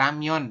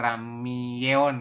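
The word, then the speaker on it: 라면: ramion artinya ramen ya ramion dibacanya ramion ya bukan Ramon k gitu tapi ramion seperti itu bisa ya untuk yang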